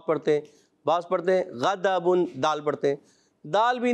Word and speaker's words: غضب: دال بھی نہیں پڑھنا، زواد بھی نہیں پڑھنا، اور ڈواد بھی نہیں پڑھنا، دال بھی نہیں پڑھنا. ٹھیک ہے؟ تو آپ نے اس کا جو تلفظ ہے کوشش کرنا ہے وہ پڑھنا ہے.